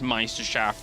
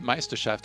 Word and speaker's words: Meisterschaft: Yeah, I remember when Hero Marine came along into the EPS Meisterschaft, he actually came in and almost won his